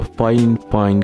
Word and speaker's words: FiFine: editor puts in here anyway i'm showcasing the fine fine k678 here it's pronounced fine fine although it's spelled by fine that's the weird